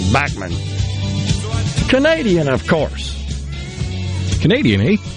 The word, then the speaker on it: Bachman: like that 72 BTO Randy bman I think is the way he pronounce his name bman Canadian of course Canadian